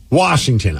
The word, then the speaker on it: Washington: Washington so I said Washington is pronounced Washington I'm born and raised here there's no r in it well then Hussein Washington